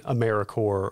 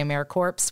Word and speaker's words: AmeriCorps: So sometimes people say AmeriCorps. We don't do that, but it is AmeriCorps.gov.